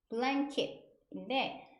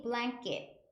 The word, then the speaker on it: blanket: blanket인데 이 발음이 blanket, blanket 쌍기역처럼 납니다.